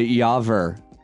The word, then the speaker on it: Yaver: i'm very excited to have a doctor yaver wait did i say your name wrong again no you said it correctly oh